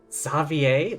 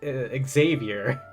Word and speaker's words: Xavier: are you doing here savvier that's how you pronounce it I I read it in my heads as Xavier but it makes sense considering he's from Fontaine and they're French essentially I was in the